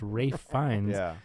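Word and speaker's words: Ralph Fiennes: I thought his name was Ralph for a very long time. Oh that's funny. But Katie did too until I said it the other day. She goes what? And I go yeah his name's pronounced Rafe Fines.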